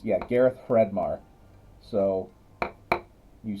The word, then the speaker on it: Hreidmar: You did pronounce the last name. It's, yeah, Gareth Fredmar.